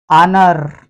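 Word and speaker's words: honour: आ जाए तो H silent हो जाएगा इस स्पेलिंग को देखें आवर आनर और एयर इनमें यदि एच के बाद ओ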